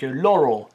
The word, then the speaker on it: Laurel: Dans cet extrait sonore, selon les gens, on entend soit Yanni, soit Laurel, mais Laurel prononcé à l'américaine, donc Laurel, tu vois comme ça.